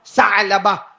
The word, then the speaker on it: ثعلبہ: جوان، نام بولو، ثعلبہ، بیچ میں عین ہے نا، اس لیے میں عین نکال رہا ہوں، ثعلبہ۔ ہاں، انگریزی میں آپ لکھو گے تو وہ عین کا تلفظ نہیں ہوگا، لیکن عربی زبان میں حضرت ثعلبہ۔ اور کتنی عمر، کتنی